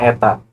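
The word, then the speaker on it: η: melalui persamaannya adalah ini bentuknya seperti NY tetapi ini dibacanya Eta Eta = f *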